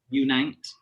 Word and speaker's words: Unite: unite light so um unite as in uniting nurses um yeah awesome awesome